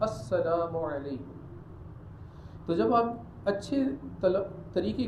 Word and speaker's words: السلام علیکم: سلام صحیح طریقے کے ساتھ کرنا چاہیے، السلام علیکم یوں نہیں کرنا چاہیے، صحیح تلفظ کے ساتھ السلام علیکم.